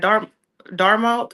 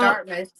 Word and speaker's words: Dartmouth: basically, you know, told um the students at Dharmmouth, is that how you say it? Dharmmouth. Dartmouth.